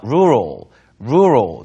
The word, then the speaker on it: rural: rural이라고 하면 발음이요. rural.